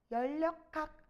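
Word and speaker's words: 열역학: 자, 이거 발음 어떻게 해, 얘들아? 연력학. 연력학. 요렇게. 리을로 발음하거든요.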